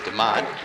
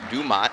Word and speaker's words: Dumont: told that Jared dumat doesn't like the way we pronounce his name deont it's actually Dumont so we're sorry for